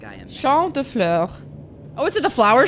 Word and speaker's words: Champ de Fleurs: Champ de Fleurs. Oh, is it the flower shop? The floors? How do you say that? Champ de Fleurs. It's Champ de Fleurs. It means field of flowers.